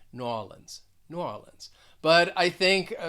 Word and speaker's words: New Orleans: different pronunciations i say new orleans so in the second word i'm stressing that second syllable new orleans others may stress the first syllable and say new orleans and then with for